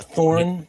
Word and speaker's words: Thorin: Thorin. Yeah. Thorin.